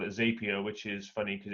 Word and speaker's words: Zapier: sure i didn't no i believe it's zapier zapier yeah i think so that's happier they say yeah save here oh